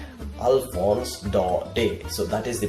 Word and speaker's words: Alphonse Daudet: could not the man speak like that we pronounce it Alfons dark day Alphonse Daudet Alphonse Daudet Alphonse Daudet so that is the pronunciation that is the